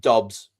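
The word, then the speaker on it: Doubs: Um, but like Romeo Dubs was was it 4 years 68 million up to 80. I would just like to interject. I've checked and it's pronounced Dobs.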